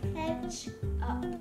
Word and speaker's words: ketchup: pronunciaría no no no noam a ver cómo pronuncias Catch up Catch up sí Ketchup Sí kcha sí me suena raro a mí tantos años diciendo kepchup kechu kechu Pero bueno eso fue todo por